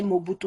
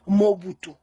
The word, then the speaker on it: Mobutu: originaire de mado et le nom mobutu vous voulez prononcé mobutu mais chez nous on emballe dit on prononce mon but ou mobutu veut dire vous